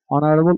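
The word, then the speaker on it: honourable: mister Harun is এন অনারেবল teacher এখানে অনারেবল এচ এর উচ্চারণ হয় নাই এখানে উচ্চারণ না হওয়ার কারণে এখানে অনারেবল উচ্চারিত হবে তাই এখানে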